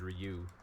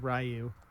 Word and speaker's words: Ryu: I believe that's pronounced Ryu yeah yes like the bread yeah after bread that's